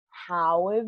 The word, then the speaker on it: have: How have you been? Nota que solo pronuncio la primera H de how y no de have.